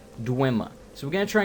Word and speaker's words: Dwemer: I need to start saying Dwemer. Because everyone in the games pronounces it Dwemer. So it's clearly not Dwemer, but I have heard it said Dwemer before.